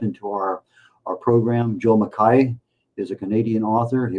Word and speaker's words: McKay: but it is pronounced mai which is the original Scottish Highland uh pronunciation for it. Most people will say McKay uh mistakenly including num a number of people who have uh the last name.